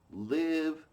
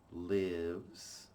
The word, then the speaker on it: live: The adjective is live. Like alive.